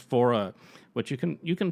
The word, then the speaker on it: Faure: I really recommend checking out his anthology and uh pronounced fora which you can you can find those on like streaming sites and on iTunes and I I highly recommend those.